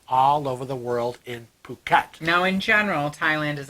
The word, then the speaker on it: Phuket: Now, is it pronounced Phuket. Phuket? Yes, Phuket. The H is silent. This is big on my... Yeah, Phuket, Thailand, and we have never been.